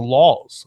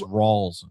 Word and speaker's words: Rawls: Is that how you pronounce that name? LAWLS, Laws, is that right? No, it's not. I have him written down somewhere, but yeah, it's as long as he plays, it's Thomas Rawls. Rawls, okay.